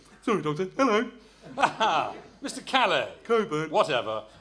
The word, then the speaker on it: Cockburn: It's written as Cockburn, but it's pronounced like the famous port. I see. Well, send Mr. Calais in, will you? Never mind. The doctor will see you now, Mr. Coburn.